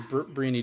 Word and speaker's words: Briony: give us a little background on who is breny Douglas yeah of course first of all thank you for Pro pronouncing my name right um I I've been